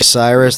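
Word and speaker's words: Sirus: You can see me at Cyrus. That's spelled S like virus, S-I-R-U-S.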